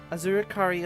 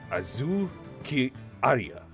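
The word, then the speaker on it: Azukiarai: Here, this charm will keep Azurikari awake. That's not how you say it. Azuki Arya, the yokai that washes Azuki beans.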